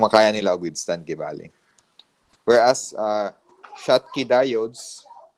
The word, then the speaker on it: Schottky: Whereas, Schottky diodes, so that's pronounced as Schottky. German man, no?